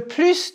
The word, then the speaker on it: plus: number le plus de prononcer le plus de oui on entend le S le moins de av